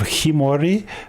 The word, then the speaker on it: Khiimori: Appar um but yeah I already mispronounced the name. It is the legend of Kimorei.